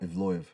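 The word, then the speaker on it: Evloev: But at the same time, this guy, the Russian, Ivlov, if I'm pronouncing it right, Ivloev, yeah, Ivloev, Davai, he's Movzar.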